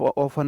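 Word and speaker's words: often: अंग्रेजों के रूल है ऑफ ऑफन में टी साइलेंट है रिया इज ऑलवेज स्पीकिंग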